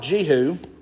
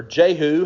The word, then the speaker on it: Jehu: Well, as an interesting side note, the prophet Jehu, or Jehu, however you want to pronounce that, was the son of Hanani.